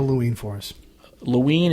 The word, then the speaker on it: Loween: spell looing for us Luanne is spelled Lowi e n and it's derived from the word Halloween and when I'm Halloween without